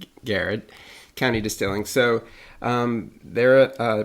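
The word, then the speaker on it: Garrard: The first news story is actually about them, Garrett County, which for everybody listening, it's actually spelled Gerard, but it's pronounced Garrett County Distilling.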